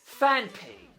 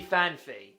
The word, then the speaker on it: Phanpy: Phanpy. Yet, one person, a very famous Pokemon YouTuber, pronounces it Phanpy.